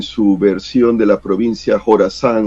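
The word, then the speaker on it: Jorasán: versión de la provincia Jorazán o ISIS o EI, Estado Islámico Jorazán, lo escribe en KH, porque así lo pronuncia en inglés lo que sería nuestra J, pero se lo puede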